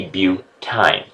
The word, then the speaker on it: butyne: YNE is pronounced ine. So if I was C4H6, then I would be butyne.